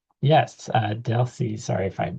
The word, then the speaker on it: Delcy: Uh, Deli, sorry if I mispronounced your name.